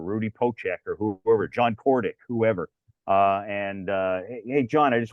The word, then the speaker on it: Kordic: Pocek or whoever, John Kordick, whoever. Hey, John, I just want to make, is it Kordick? Yep, it is.